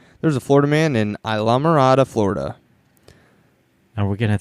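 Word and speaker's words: Islamorada: pronunciation on that one nope that is how you say it because there used to be a restaurant uh back home called alamada and it's yeah it's like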